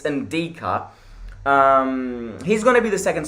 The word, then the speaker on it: Ndicka: say his name, because it's not DICKA, it's Ndicka.